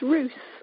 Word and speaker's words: Rous: her site at Emma am i pronouncing your last name correctly its ruse yeah I think I'm